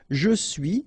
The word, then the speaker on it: je suis: Okay, so, je suis, final S not pronounced, tu es, okay, so